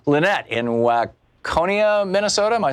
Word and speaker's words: Waconia: Lynette in Waconia, Minnesota.